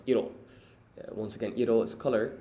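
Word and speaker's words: 色: So the second kanji here on the right is pronounced iro, which means color.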